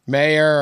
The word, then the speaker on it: Mayer: I know I said his name wrong. How do you say his name, Pat? Mayer.